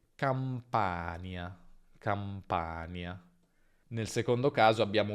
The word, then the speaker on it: Campania: Attenzione a non confonderla con nie, perché c'è differenza tra campagna, campagna e campania, campania.